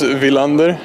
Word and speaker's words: Willander: So I guess the way we would say it back in Sweden is Willander.